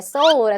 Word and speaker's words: Seoul: 도시라든가 생각보다 여러분 그리고 진짜 듣기 힘든 도시 이름이 Seoul 하고 그 사람 어디 사나요? 할 때 소울에 산다고 하면 다름 아닌 서울에 산다고 얘기한 걸 캐치하시면 좋겠습니다.